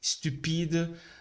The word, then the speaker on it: stupide: Os brasileiros têm a mania de colocar a letra E antes do S ao pronunciar as palavras. Mas no francês não tem a letra E. A gente deve começar como S. Por exemplo, aqui, ó. Sport, não é sport. Sport, stupide, spontané, espasme, são pronunciadas com S.